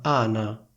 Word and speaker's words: Ana: sola, io devo dire si chiama Ana. Quindi sentite la differenza tra il nome Anna e il nome Ana?